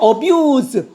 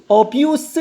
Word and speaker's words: abuse: 그래서 동사일 때와 명사일 때 발음이 특별히 저 s 발음이 다른 경우 꼭 한번 신경을 써 보십시오.